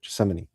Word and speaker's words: Gethsemane: I can't even pronounce it. Gethsemane. That's it. Gethsemane.